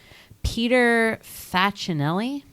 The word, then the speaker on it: Peter Facinelli: Peter Facinelli.